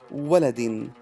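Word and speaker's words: وَلَدٍ: Now, if it had a tanween bil-kasr, two kasras below it, we would say waladin.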